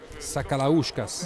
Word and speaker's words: Sakalauskas: Sakalauskas. Bravissimo, che pronuncia perfetta.